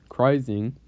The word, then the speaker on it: Crising: ocean we have 92a and charizing of course crising crising i mispronounced it the entire time ouch but anyways